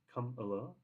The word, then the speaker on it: Kamala: can appear really childish I do believe the pronunciation of her name should be K so just to correct myself it's come along Miss Harris come along